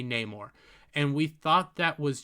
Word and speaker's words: Namor: the word instead of how it is traditionally pronounced as Neymar it's Namor he is Namor but he well no he's